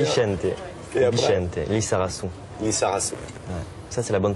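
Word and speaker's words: Lizarazu: Lissarazu. Ouais. Ça, c'est la bonne prononciation.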